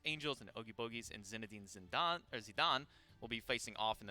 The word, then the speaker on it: Zinedine Zidane: It's Zinedine Zidane is actually the way that you pronounce the other team that Ogie Bogies is going up against.